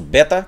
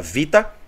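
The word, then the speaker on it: βήτα: é é o nosso Beta que a gente chama de Beta no alfabeto grego mas que na verdade a letra é pronunciada Vita né vions que representa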